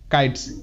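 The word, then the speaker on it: kites: এরপর কাইটস, কে আই টি ই এস, কাইটস, কাইটস। Next, ভিসিব rule অনুসারে এসের উচ্চারণ বর্গীয় জয়ের মতো হয়, এখানকার প্রত্যেকটি ওয়ার্ডে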